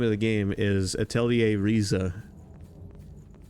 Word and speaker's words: Atelier: The name of the game is Atelier Riza. A-T-E-L-I-E-R.